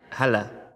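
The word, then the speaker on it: هلا: Ahlin, or hala, hala. Hala.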